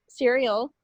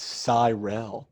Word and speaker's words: Cyril: perhaps to cereal lied the only reason that I made the cereal joke is because in the moment I couldn't remember the correct pronunciation and you know if I made a joke you would correct me that's better than just asking since we started recording its Cyril Cyril I'm gonna put that